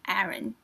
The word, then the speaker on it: Aron: I'm almost really curious is it Aon or is it Aaron I think it's Aon right Aron because that's how they say it in Korean isn't it I wonder how you'll